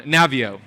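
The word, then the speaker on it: Naviaux: in your body robert navoo i hope i'm saying his last name right he has great research on navio is how you say it he's has great research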